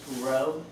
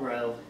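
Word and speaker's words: rho: it's not a p it's a Greek letter and it's pronounced row r h and it's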